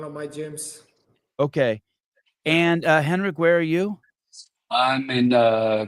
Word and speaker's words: Henrik: Henrik. Henrik, yeah.